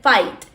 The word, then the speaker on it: fight: Luchar se dice fight. GHT. No pronunciamos la G ni la H, solo la T. Fight.